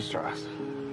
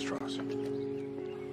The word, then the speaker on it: Strauss: Strauss. It's pronounced Strauss.